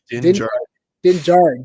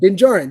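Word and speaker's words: Din Djarin: is the first appearance of D pronounced his name wrong Dingjarun Dingjarun thank you Dingjarun I said it wrong for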